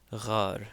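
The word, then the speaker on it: ⲅⲁⲣ: Ghar. So here we have that r sound, the gh sound.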